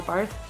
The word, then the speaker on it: Barth: One of the quotes that really stood out to me by a theologian his name is Karl Barth. Bart, I think people pronounce a lot.